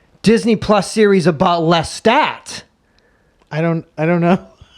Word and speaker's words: Lestat: heard that too I said I said it's Lestat oh it's his name right I said it's